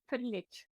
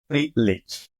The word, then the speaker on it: Frljic: So not many people get it right. It's Frljic. Frljic. Frljic. Yeah, it's actually a Croatian last name.